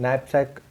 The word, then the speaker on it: knapsack: 12th one, explain knapsack problem. Here n is silent. Knapsack, here k is also silent.